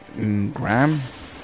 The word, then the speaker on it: Graham: then Graham Wagner uh Graham yeah that's how it's pronounced it's spell g r a h a m [ __